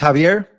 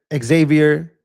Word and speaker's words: Xavier: It's pronounced Javier.